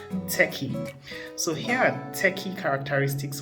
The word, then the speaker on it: TECHI: these characteristics that is spelled t-e-c-h-i and pronounced techie so here are techie